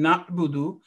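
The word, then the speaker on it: نَعْبُدُ: So when we are pronouncing na'budu, we need to be focused. And there is a sukoon on ayn, so there isn't a jerking sound.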